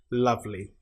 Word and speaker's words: lovely: So the Y at the end is pronounced like the E sound. Lovely.